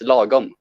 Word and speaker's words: lagom: It's lagom.